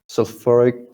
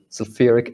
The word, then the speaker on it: sulfuric: it's like so so it's short ah sulfuric sulfuric acid sulfuric acid is like that so so fear it's not ooh as it seems it's not right it's a short ah sulfuric acid sulfuric acid right if you notice i'm putting i'm placing more stress more in the side on this part right it's a freak acid right because of primary stress over here okay uh the next